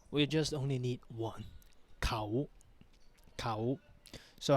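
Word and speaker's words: เขา: So the first word is a single, has only one syllable. The word khao.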